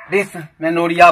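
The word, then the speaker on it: dysmenorrhea: जाए, तो इसे हम डिसमेनोरिया बोलते हैं. डिसमेनोरिया DYSMENORROHEA. तो डिसमेनोरिया है. यहां पर आप देखेंगे कि जो कुछ वर्ड एच साइलेंट है, पेनफुल और डिफिकल्ट मेंस्ट्रुएशन।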